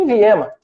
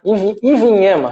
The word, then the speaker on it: Ivinhema: Tem o Smiley, que foi um jogador convocado pelo Tite e estreou profissionalmente no Iviema. Né? Ivinhema, né? Vamos corrigir a pronúncia.